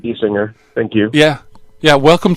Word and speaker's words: Gesinger: I pronounce it Giesinger, yeah. It's been good. pronounced, I think, about 28 different ways throughout my life. So, but I pronounce it Giesinger.